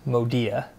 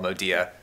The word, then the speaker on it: Modea: the important answer here is that it is pronounced modia modia modia well pronounced bryce well pronounced wait what okay let me stop you there though so yes our business is called modea but what's the favorite mispronunciation you've heard because